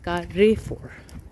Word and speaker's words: Carrefour: Basically Italian में हर लफ्ज़ का साउंड अदा किया जाता है सिवाय उनके जो साइलेंट हैं, तो ई जो है उसका साउंड ए में प्रोनाउंस होता है, सो इट्स Carrefour for that reason.